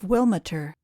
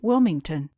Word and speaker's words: Wilmiter: They bore the name of Wilmiter, which, in the family parlance, was almost always pronounced Wilmington.